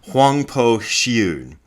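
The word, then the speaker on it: Huangbo Xiyun: The first one being Obaku Kiyun, that's how I learned his name, who is most commonly known by the Mandarin pronunciation, I believe this is a Mandarin pronunciation, Huangpo Xiun.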